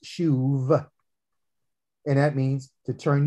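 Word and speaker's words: שוב: according to the hebrew is again s-h-u-b but it's pronounced shuv and that means to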